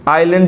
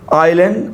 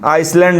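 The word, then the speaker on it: island: आइलैंड जो होता है, आइलैंड, आइसलैंड मत इसे पढ़िएगा, इसे हम पढ़ते हैं आइलैंड, एस साइलेंट है यहाँ पे, आइलैंड।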